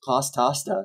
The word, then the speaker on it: Pastasta: And then finally, this record right here, which is by Pastasta, which is, you know, you say it like pasta, but it's Pastasta.